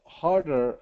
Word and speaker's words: harder: And the difference is just that addition of the R sound. Okay, so ah and R. So R, R. The only difference is having that tongue pull back for that R sound.